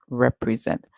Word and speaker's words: represent: at the end for the S so we hear R and then sorry e remember the E is making a long song e so we hear r e r and then we hear Z and then we see that same ending and like in different and student so our word is repe and then we hear Z represent or you can break